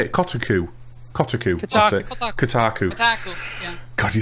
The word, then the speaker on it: Kotaku: Kotaku.